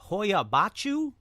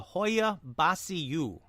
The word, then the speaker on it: Hoia Baciu: There are 2 different pronunciations online. The Hoia Baciu or the Hoia Baciu. But the Hoia Baciu seems to be the most prevalent, so I'm going to use that for this episode.